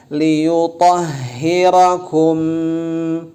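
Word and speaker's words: لِيُطَهِّرَكُمْ: Ma'al liyutah, li ditarik bibir bawah, li, yu dimonyongkan, yu, to, ingat pengucapan to, langsung ke ha besar, liyutahhirakum. Nah, liyutahhirakum tahan karena mim ketemu ba, ini banyak yang gak ditahan.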